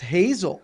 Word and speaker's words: Hassel: It's pronounced Hazel. Wow. You could have given me a lot of guesses. I'm not ever getting a hard Z sound out of that S, but I do apologize for that.